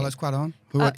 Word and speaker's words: Cuarón: Carlos Cuarón, who wrote Y Tu Mama También.